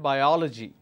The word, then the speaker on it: biology: stress is all about for example in this case I will stress on oh and I'll pronounce that biology all right for example